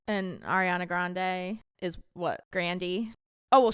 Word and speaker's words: Grande: And he's like, let's pronounce it Grande.